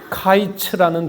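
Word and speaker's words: קיץ: 언어적인 연구나 고찰에 따르면이 아모스 시대에 주전 8세기에이 부광국 이스라엘에서 복모음 아이가 단모음 애로 발음이 됐다는 것입니다.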